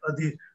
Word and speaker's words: Adhir: how where I selected Adhir. It rhymes with some of the famous Gujarati ghazalkar like Mariz, right? Having the same matra as you can have Adhir and Mariz.